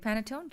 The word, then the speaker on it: panettone: So E's are pronounced like A's. Panettone. Well, I guess it ain't no paintone or paintone.